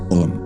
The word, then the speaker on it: Om: Esa sílaba se vocaliza así, Om. Como veis, la O es la letra principal del centro del corazón.